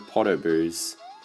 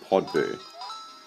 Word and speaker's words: Podoboos: And of course, what's a lava level without its fair share of Podoboos? Or as I used to pronounce it, Podboo.